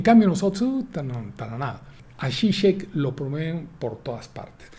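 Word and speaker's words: Žižek: Se posicionan los filósofos, nuevos filósofos, que ya no son ya no son comunistas, como Zizek, le dicen Zizek, se escribe Zizek.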